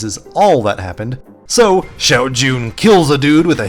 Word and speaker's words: Shao Jun: It's actually just a young Chinese assassin, Xiao Jun. The film proceeds to pronounce her name incorrectly the entire time. Xiao Yun.